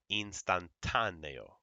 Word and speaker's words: instantáneo: If there's an accent mark, that's where you're going to pronounce that the stress. Okay? So for example, in this word lápiz, or this one, instantáneo, último, it holds it there.